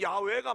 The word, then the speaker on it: 야훼: 정확한 발음은 야훼가 맞다고 그래요.